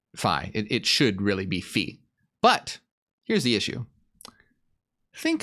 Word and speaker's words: phi: greek letter um phi which which is pronounced fee if you're a mathematician and phi if you're in a fraternity ah hey hey if